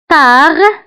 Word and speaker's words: tard: Tard, tard كتعني متأخرا. Tard. فالتار كنكتبوها بالد في آخر الكلمة ولكن لا ننطقها.